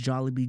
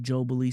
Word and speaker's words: Jollibee: This woman over here pronounced Jollibee Jobily, so I had to clown her.